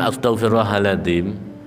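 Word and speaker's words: Astaghfirullahal'adzim: Itu ternyata kalau di medis orang mengucapkan astagfirullahaladzim di mana di rangkaian kata itu kan tidak ada yang orang mengucapkan astag, nah itu enggak ya, tapi astagfirullahaladzim. Di situ ada huruf jaharnya yang diucapkan dengan keras.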